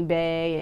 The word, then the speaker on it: Bahja: Now, it's pronounced like your name, but it's not spelled like your name. Right. So Bae, you spell the slang term Bae is Right. like B-A-E, and your name is spelled B-A-H-J-A.